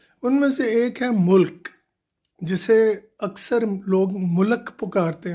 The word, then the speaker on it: ملک: تو اصل تلفظ اس کا ہے ملک، ملک نہیں ہے. پلیز اس چیز پہ غور کریں کہ لام پہ زبر نہیں ہے، جزم ہے. تو ملک.